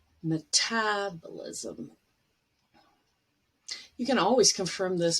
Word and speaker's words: metabolism: And the last one, but the syllable stress is on tab, metabolism.